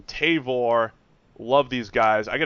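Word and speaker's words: Tavour: beer that's right a new beer app called tavore love these guys I got to spell it out for you guys because I I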